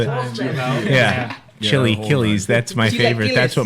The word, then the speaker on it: chilaquiles: in Mexico for some chilacolas or chili hillies or chilaquiles out there pronounced by the people yeah chili killies that's my favorite that's